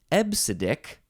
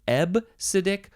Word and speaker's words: EBCDIC: c d i k but you do pronounce it ebbsidic you can you can pronounce it ebb acidic or EP sadik I don't know how the the P sound got in there because there's no p in all those letters uh so ebbsidic seems like the more the more correct way to say this absidic uh this is